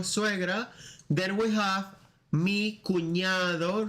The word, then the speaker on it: cuñado: Then we have mi cuñado. Remember the ñ sound, just like in champagne.